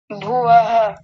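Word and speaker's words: भवः: अंतिम शब्द को विक्षेप सह भव भव विसर्ग को पूरा बोलना चाहिए। भव हां जी बहुत बढ़िया उच्चारण है आपका।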